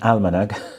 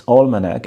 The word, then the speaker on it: Almanac: a tool called Almanac I keep saying Almanac so I'm sorry for the Mis pronunciation so yes so it's all manac and it it has